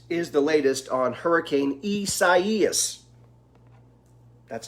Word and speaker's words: Isaias: week so that is the latest on hurricane isis that's how you say it there you go